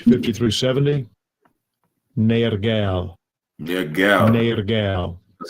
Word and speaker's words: Nergal: Nergal.